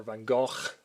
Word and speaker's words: Van Gogh: He's one of my favorite artists, along with Van Gogh, of course, or Van Gogh, as they would have pronounced it.